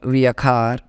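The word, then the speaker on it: viajar: travel in English called via khar in Spanish because J is pronounced as k h how many times I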